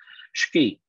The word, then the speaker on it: sgi: they use shiki now i spell it funny here s-h-k-i because um that's kind of how it's pronounced but if you look in the chat the way they spell it is sgi that's how it is in phonetics ski and that's the eastern